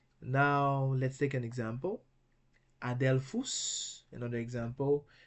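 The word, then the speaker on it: ἀδελφός: Adelphus, another example. Adelphus, that's another example of two consonants that cannot begin a Greek word, and therefore they are pronounced separately.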